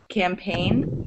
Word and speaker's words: campaign: pronounce the G but when the GN are together in one syllable signs signed signing campaign you don't pronounce the G so it's only when